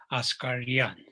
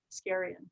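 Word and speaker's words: Askaryan: of this radio effect the proper pronunciation of the name is oscar yan yeah i guess we all anglicize it and everyone says scarian but thanks all right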